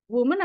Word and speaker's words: woman: ada contoh yaitu the womanen apa women ya Ini bacanya Ya jadi kalau pakai E itu disebut plural Nah untuk yang singular adalah pakai a ya bacanya woman kalau pakai e bacanya women makanya di sini plural